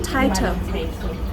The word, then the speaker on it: Taitou: Quick question, how do you pronounce this restaurant? Madame Taitou.